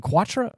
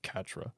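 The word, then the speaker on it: Quatre: blond-haired guy Katra oh yeah yeah was it quattra or it's spelled like quatra but in the show they pronounce it Catra okay well Katra I I like sunshine that boy that's and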